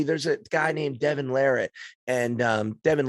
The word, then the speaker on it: Larratt: a guy named Devin Larratt, and Devin Larratt's like, you can it's Larratt. Joe If Rogan you said Larat. Yeah, I know. He said it right.